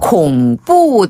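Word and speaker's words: 恐怖: 이렇게 스릴이 있잖아요 그래서 콩뿌 띠엔 그 아 콩뿌 띠니네 콩뿌 할 때 콩은 콩 콩 나와라 뚝딱할 때 콩 그다음에 뿌는 뿌 뿌 뿌 뿌 그냥 귀여운 발음 뿌 귀네 쌍비 빠른 뿌 예 콩뿌 띠에요네 그리고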